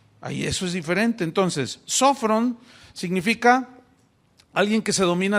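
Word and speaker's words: σώφρων: Esta palabra se tradujo del griego sofrón, tiene acento en la primera O, sofrón. Y sofrón, que se tradujo prudente, significa alguien que se domina a sí mismo.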